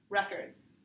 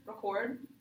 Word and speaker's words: record: Like, if you have it in the first part of the syllable, record, it's the noun. If it's in the second part of the word, record, it's the verb.